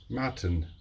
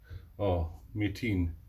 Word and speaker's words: Metin: Matin. And that's actually not even how you say it. It's Metin.